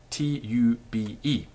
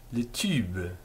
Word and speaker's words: tube: not that tricky um tube tube the way to do it is quite simple just go e with your tongue relaxed and sort of slopping